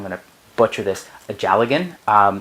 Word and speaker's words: dealgan: I decided to go down to Fleece and Harmony and buy, I'm going to butcher this, a Jalagan. It's spelled Dealgan, but it is Scottish Gaelic, and it is a Scottish spinning spindle.